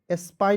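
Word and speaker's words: spine: आधा स पी आई एन ई का उच्चारण दोस्तों पाइन के रूप में करेंगे ठीक है हो जाएगा दोस्तों एस पाइन स्पाइन मीस क्या होता है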